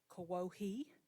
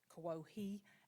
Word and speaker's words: Kuwohi: And just recently we met with our elders, our Speakers Council, who have determined that the correct spelling and pronunciation is Kawohi, and it is with an O, Kuwohi. Kawohi, and it's the place of mulberries.